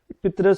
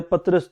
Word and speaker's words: پطرس: کی۔ احمد شاہ بخاری، پطرس یا پطرس دونوں طرف سے آپ ان کو پڑھ سکتے ہیں، دونوں ان کے تلفظ ٹھیک ہیں، پطرس بھی کہتے ہیں پطرس بھی کہتے ہیں۔